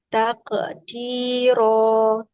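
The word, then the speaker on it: تقدير: qwar min fiddotin qara taqdir oke taqdir coba baca taqdir cuman sekarang qalqalahnya sempurnakan coba takqdir nah sempurna itu jangan putus suaranya enggak boleh takqdir Tapi disambung bunyi qalqalahnya dengan huruf dalnya.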